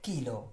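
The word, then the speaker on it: chilo: পরে বলছে 1000 গ্রামে কি 1 কিলো। ওকে, চিলো বলা যাবে না, কি বলতে হবে এটাকে কিলো।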